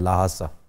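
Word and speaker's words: Lhasa: H pronounce नहीं भी करते लेकिन ज्यादा किया जाता है। लाहासा। लाहासा।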